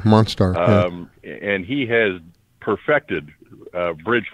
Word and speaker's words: Monstar: He has on Facebook, it's called The Bridge Monster, and it's spelled STAR at the end. Like Star. Oh, Monstar.